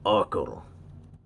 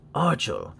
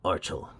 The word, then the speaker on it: Archel: So, fun fact, this is not the Archel 2 Pro. It is actually pronounced Archel in reference to their daughter. So, yes, most of us have been saying this wrong. It's not Archel, it's Archel.